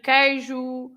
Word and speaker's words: queijo: But then when you have an E or an I, then you don't read it as we have seen in quinta-feira, in queijo, the word aqui, for example, right?